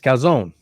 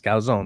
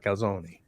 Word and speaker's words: calzone: Sean says, for the love of all that is holy, stop pronouncing the E in calzone. It's calzone. Hey, it's calzone, not calzone.